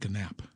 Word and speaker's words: Knapp: I want to say Knapp. It's Knapp. The K is silent.